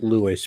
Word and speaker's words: Louis: be badass I like it's actually pronounced Louis but Louis is fine Louis no um